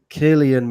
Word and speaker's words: Cillian: yeah yeah he's got a name I can't pronounce uh Cillian Murphy Chilean Murphy yeah isn't he British he's British Irish